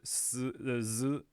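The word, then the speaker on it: ず: And then these two here, z and z, used to be pronounced differently. They are now just z.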